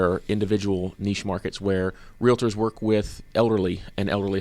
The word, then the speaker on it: realtor: how to do that pronounced realtor uh they put an extra syllable in there right you don't call